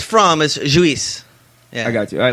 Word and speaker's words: Lluis: In Spain, it's pronounced Luis, but there's really no way to say that.